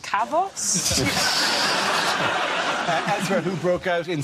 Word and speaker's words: Kavos: like Oh holidaymakers in chaos I think it's pronounced kavos Andrew who broke out